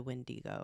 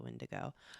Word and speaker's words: wendigo: around this creature um they have different maybe different pronunciations for it but it's like generally the same like folklore of the wendigo or the windigo um and it's often